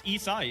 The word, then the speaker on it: Isai: Everyone's Everyone says his name wrong. Isai. Really? Yeah. It's Isai. It's not Isaiah. Like that's a badass. That sounds like E space. Uh, like E E space s a space e E.